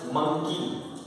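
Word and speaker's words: monkey: एम ओ एन के वाई मंकी, डी ओ एन के वाई डोंकी, ये spelling दोनों सेम है, एम ओ एन के वाई को मंकी बोलते हैं, ओ को अ में बोला जाएगा और यहाँ पर ओ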